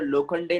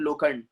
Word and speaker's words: लोखंडे: That my name is mister Khopde, my name is mister लोखंडे, नॉट लोखंड.